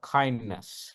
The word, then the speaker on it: KINDNS: So if you want to actually follow the DNS, especially the security best practices, we have a framework called kindness, right? It is spelled as KINDNS.